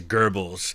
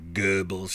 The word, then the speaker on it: Goebbels: often hear, for example, someone like Josef Goebbels pronounced as Goebbels, and it's really kind of Goebbels.